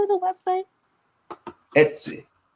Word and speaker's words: Etsy: Etsy. Exit.